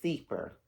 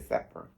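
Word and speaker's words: Sepher: So, the foundation is going to be laid um using the the Sefor. And some people pronounce it Sefer.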